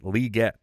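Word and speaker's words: Legette: Yes, it is Leggett. He says it's Leggett. That's how we will be pronouncing it.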